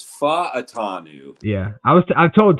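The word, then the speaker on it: Fautanu: by like everybody but I'm actuallyy about the pronunciation guide so it's fa atanu yeah I was I told Tai one time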